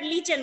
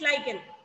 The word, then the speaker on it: lichen: Some people pronounce it as lichen, but it is not lichen, it is lichen.